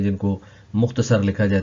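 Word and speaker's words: Sonne: सबसे पहले है जोने, इसको पढ़ेंगे जोने।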